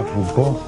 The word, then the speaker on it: Foucault: gran científico francés León foucault se escribe fult pero se pronuncia FC y él en el